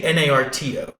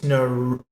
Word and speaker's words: Naruto: You say it as if it's spelled Narto. You say Naruto. You say Naruto. Yeah, Naruto. There's a U in there. Now I heard the U a little bit more, but it's Naruto.